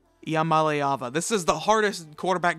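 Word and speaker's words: Iamaleava: and a lot of people call him nicoo I am Aliva that's not how you pronounce it it's uh Iya malava IAM malava this is the hardest quarterback name to pronounce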